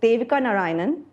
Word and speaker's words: Devika Narain: And then Devika Narain, am I pronouncing it correct?